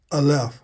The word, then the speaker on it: Aleph: Looks like an N, but it is pronounced as Aleph for the A sound.